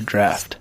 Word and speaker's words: draught: Is it draught or draft? Draft.